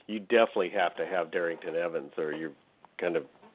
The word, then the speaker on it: Darrynton: Balky, is that the pronunciation? Darrynton, yeah. Darrynton.